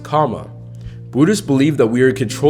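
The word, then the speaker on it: kamma: The word karma is a Sanskrit word meaning action, and in Pali is pronounced kama.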